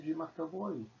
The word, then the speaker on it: Dimataboaui: Eu recebi um nome em Jarawara, meu nome é Dimataboaui, né, escreve do jeito ali, mas pronuncia Dimataboaui.